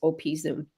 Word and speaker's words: Bergen op Zoom: netherlands and here we see the port of bergen op zoom low tide that is how you pronounce it i looked it up i would have said op but it's opi zoom so he he really um started to explore